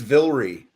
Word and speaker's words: Vilray: It's It's Villrie. Vilry.